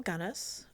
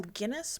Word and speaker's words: Gunness: So the book starts off with the Ballad of Belle Gunness. I've heard it sometimes pronounced Belle Guinness, but there's no I in the name and it's Norwegian, so I would assume it's actually Gunness.